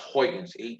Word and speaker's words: Huygens: was the Dutch physicist Christian hyans again that's pronounced hyans hu y g NS h is usually how